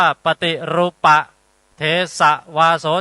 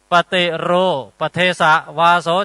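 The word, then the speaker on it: ปฏิรูปเทสวาโส: เอา อ่าน ถูก ก่อน ท่าน อ่าน ว่า ปฏิ รูปะ เทสะ วาโส จะ ลอง อ่าน ผิด ซิ ปฏิรู ป เทสะ วาโส จะ ปฏิรู ประเทศ ไง มี เหรอ ภาษา บาลี ปฏิรู อ่ะ มี เหรอ ทุก วัน นี้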